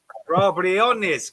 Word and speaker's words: Briones: Briones is pronounced. Briones, because it has to be, because it's Latin.